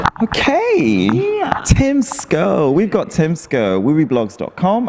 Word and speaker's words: Schou: Okay, but how do you really pronounce it? It's Schou.